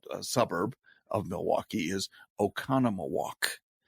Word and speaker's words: Oconomowoc: outside of also a suburb of Milwaukee is Oconomowoc ocon om o wo c Oconomowoc Wisconsin and people will murder that all